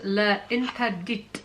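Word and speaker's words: L'Interdit: It is Le Interdit, and that's how you pronounce it.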